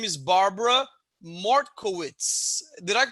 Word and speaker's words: Mortkowitz: a very special guest her name is barbara martkowitz did i pronounce it right barbara that's perfect excellent you